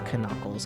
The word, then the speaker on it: Knuckles: Of course it's Knuckles.